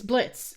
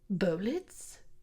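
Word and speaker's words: Blitzø: It's uh it's Blitz, I guess. The O is silent. Blitz. What a delightful name. Bolitz.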